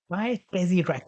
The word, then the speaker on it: PyTesseract: to install is the PyTesseract module. So it is PyTesseract. So make sure you spell it right. So it is Py and then Tessie and R-A-C-T Ract.